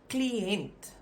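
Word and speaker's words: kliënt: word word for client now if I pronounce it slowly you'll see there's a separation between the I and the E you'll pronounce it like C and then an so that dokis just separates the I and the E from each other but the pronunciation of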